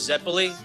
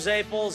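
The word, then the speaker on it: zeppole: The correct way to pronounce them is Zeppoli, but we call them Zaples, Zeppoli, you know, it's like the short version.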